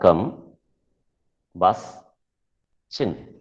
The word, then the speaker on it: combustion: it is pronounced as combustion how is it pronounced the first three sounds are come bus chin the sound that